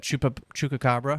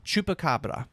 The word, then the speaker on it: chupacabra: do you say that Chupa Chuka Cabra chupacabra chupacabra with the p chupacabra uh versus Moth Man